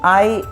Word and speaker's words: hay: ¿Dónde hay un banco? ये HAY है, इसे जो प्रोनाउंसिएशन है वो है I।